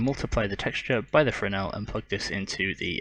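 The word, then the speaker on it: Fresnel: I'm going to quickly grab a frel which is spelled f e s n l so if you're searching for that make sure to put that s in there it's silent don't you know now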